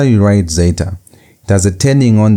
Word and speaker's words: zeta: The next set of three we have zeta. Zeta as in days as in the word dez. That zed sound that z sound is um equivalent to zeta.